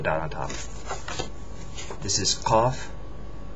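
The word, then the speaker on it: ق: K CF c c cough on the other hand is different it's pronounced in the back of the throat cough cough um it looks just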